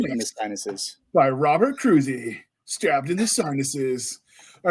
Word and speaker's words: Kroese: my books I'm Robert cruy and it's spelled k r OES e so you would never guess it's cruy but you know I'm